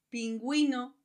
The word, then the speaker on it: pingüino: Hay excepciones en los que la letra U se pronuncia. En esos casos se pone 2 puntos encima de la U y a esto se le llama diéresis y tiene sonido y pronunciación. Vamos a ver ejemplos. Cigüeña, pingüino, vergüenza.